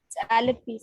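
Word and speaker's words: Alleppey: Alepe नहीं Alepe. At least people from Maharashtra pronounce that Alepe. Okay, I don't know about Kerala. It's Alepi, sir. It's Alepe. All right. Okay, it's Alepe.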